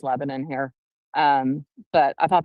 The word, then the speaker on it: Lebanon: Of course, the defense says Lebanon, but it's pronounced Lebanon here.